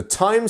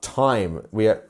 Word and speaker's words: time: Our time is almost pronounced exactly how it's spelled, except for the E, which turns the I from Tim into time. You see, if you took away the E, it would be Tim, and then the E